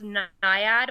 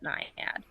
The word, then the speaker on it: Naiad: It can be pronounced Naiad or Naiad. People often ask me how to pronounce it, but I pronounce it Naiad. Okay, it looks like Naiad, so you can actually include the I in there.